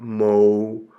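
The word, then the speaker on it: Μωϋσῆς: So what you see above the upsilon is two raised dots, a diaresis, and so you would pronounce that Mo-u-ses.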